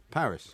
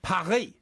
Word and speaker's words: Paris: For instance, what do you call Paris? Paris. Right. If you were French, you'd call it Parry.